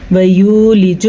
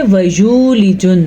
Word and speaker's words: وَيُولِجُ: وَيُولِجُ النَّهَارَ، پھر سے خیال رکھنا ہے وَيُولِجُ نہیں پڑھنا آپ نے. ٹھیک ہے، وَيُولِجُ واو مدہ، غنے کے ساتھ نون اور ہا کے تلفظ کا بھی دھیان رکھنا ہے اور را کو پر پڑھنا ہے.